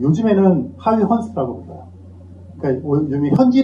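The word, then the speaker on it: Huygens: 영상에서는이 사람이 호이겐스 사람이 네덜란드 사람인데 그 즘에는 하위 스라고 불요 그니까 현지 발음으로 이름을 부르는 걸 많이 하잖아요 옛날에는 뭐 중국 사람들 이름도 등속 그랬는데 샤오 이렇게 하듯이이 호이겐스 전통적으로 불렀고 칼도 발음 호이겐스 비슷하게 해요 뭐 이건 미국식 발음인 거죠 그니까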